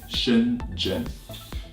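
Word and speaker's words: Shenzhen: gen gen sh e and z h yeah Shin Jin so a lot of people would have trouble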